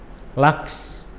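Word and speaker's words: Lachs: Waken, waksen, laks. Laks. Jadi untuk gabungan huruf CH yang setelahnya ada S, cara pelafalannya seperti membentuk huruf KS.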